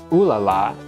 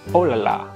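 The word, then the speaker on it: oh là là: What we've heard as ooh la la is actually oh la la.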